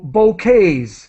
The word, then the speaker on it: bouquet: much better than before okay excellent and so bouquet the pronunciation those are the collections of flowers bouquet of flowers we we do not pronounce the